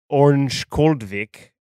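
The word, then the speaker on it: Örnsköldsvik: was the Sedin starting, and obviously they're from Orange Koldvik, I probably butchered that, but everyone over there told me just to say Ovik because that was the cheat code.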